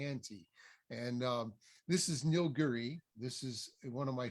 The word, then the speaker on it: Nilgiri: I think it's pronounced Nilgiri. Nilgiri. Okay. Nilgiri is really how you pronounce it, and it's a nice.